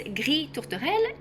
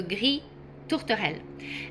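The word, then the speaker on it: gris tourterelle: So, the first one is Gree Tortoell. Tortoell is a dove. Gree means gray. So, Gree Tortoell.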